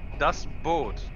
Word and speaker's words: Das Boot: That's a camel, but you like my pronunciation of Das Boot? Am I pronouncing it wrong? Das Boot. Das Boot? Okay. Yep, perfect. Perfect. That was right.